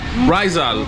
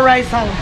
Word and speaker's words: Raizal: How you say it, pronounce it? I'm saying it wrong. More Raizal, how's it? Raizal or how's it? Raizal. Raizal. More Raizal.